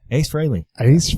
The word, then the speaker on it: Ace Frehley: and I say H Fraley okay all right Ace Frehley that's how they say it so all right